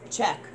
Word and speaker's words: Czech: Spell it. CZECH. Check.